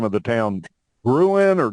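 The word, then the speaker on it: Gruene: Ruin or green? How do you pronounce it? Green. Green. Okay. Green. Yeah. So it's it's a it's a name of German origin, so pronounced green.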